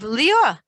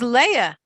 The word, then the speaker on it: Leah: He was pronouncing it in the Sephardic, very old-fashioned way of Lior, which is Leah.